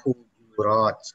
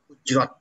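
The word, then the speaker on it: الحجرات: Jamaknya hujurat. Jangan hujrat ya. Bacanya jangan hujrat.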